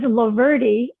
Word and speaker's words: Loverde: first name is joy my last name is loverty and the first word is lover l-o-v-e-r-d-e is my name so laverty and that's yeah and